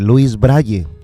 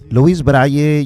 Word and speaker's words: Louis Braille: inventor francés de nombre luis braile louis braille yo lo estoy pronunciando así como así como está escrito luego creo que es